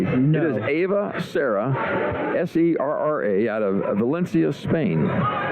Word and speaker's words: Serra: You know I'm pronouncing all of those things correctly. No. It is Ava Serra, S-E-R-R-A, out of Valencia, Spain.